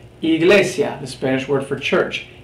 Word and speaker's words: Iglesia: for E we have Iglesia Iglesia the Spanish word for church Iglesia it's pronounced as we would pronounce our letter e Iglesia is another different